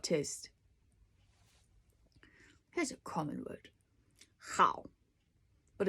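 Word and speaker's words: 好: but it's how it's a tight syllable how and you don't slide through the middle you can't have to kind of appear and disappear from the beginning to the end without smearing in the middle it's not how just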